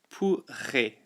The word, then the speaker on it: pourrait: Elle pourrait. Now remember the two R's there with the R sound.